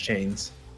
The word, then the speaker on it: 2Chaimz: Let's see if he's more successful than Groxu and 2Chaimz were. Chaimz. I keep saying 2Chaimz. I want to say it, but I was informed he's actually pronounced Chains.